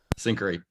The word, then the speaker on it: Syncari: What does it look like over at Syncari, which today I learned is how you pronounce it correctly.